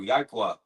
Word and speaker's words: Yahweh: That's how you say his name in the Paleo Hebrew, Yahweh.